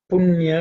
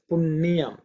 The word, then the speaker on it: punya: Many Tamils would like to, will pronounce as Punyam. We'll put a ni. That is Tamil, but in Sanskrit it's punya. Okay. There's no ni between un and ya.